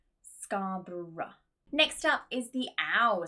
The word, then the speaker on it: Scarborough: Next up is just the schwa sound, which is that dropped sound, that very small vowel. For example, borough, thorough, and Scarborough, which is a place here in the UK. Actually, we have a lot of cities or areas which have that OUGH ending inside that use the schwa pronunciation.